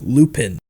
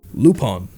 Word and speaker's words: Lupin: it's about his name it looks like it should be pronounced lupin right well the reason i pronounce the name as lupon comes down to two things the japanese voice work and more importantly the character's origins it's no secret that